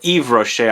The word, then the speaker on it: Yves Rocher: Moving on to a house called Yves Rocher, or Yves Rocher I should say, the S is silent. Yves Rocher Sable Fauve at number 6.